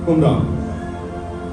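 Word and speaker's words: قمران: Sorry मैंने pronounce ठीक किया, कुमरान, जहां पर दीनदार लोग रहते थे।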